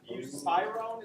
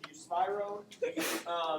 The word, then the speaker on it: buspirone: Okay, so the first drug on the non-benzos is, I looked it up, buspirone is how you pronounce it, buspirone.